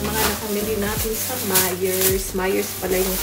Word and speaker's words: Meijer: Myers pala yung pag-pronounce nun guys.